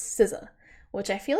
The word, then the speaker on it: SZA: longest time I thought her name was pronounced Caesar like because it's sza I was like I don't know how to pronounce that I think it's caesa but I heard them say it on SNL and it's sizza which I feel like